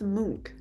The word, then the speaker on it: Munch: Him and that Munch person. It's pronounced monk.